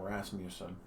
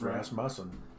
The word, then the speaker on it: Rasmussen: mean so many people they say my last name rasmussen and that's not how you say it it's rasmussen rasmussen right how about how